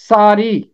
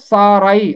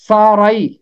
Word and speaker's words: سارائی: آیت دیکھیں تو وہاں رے کے اوپر زبر ملے گا، تو زبر کو پڑھنا ہے اور آگے چھوٹی یائے ہے، زبر کو بھی پڑھنا